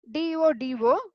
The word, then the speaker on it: dodo: DODO. So it should pronounced as dodo.